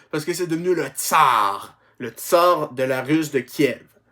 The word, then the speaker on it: tsar: C'est-à-dire César, prononcé tsar en russe.